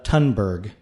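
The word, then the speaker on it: Thunberg: of experts one being Greta tunberg with the silent h the 17-year old you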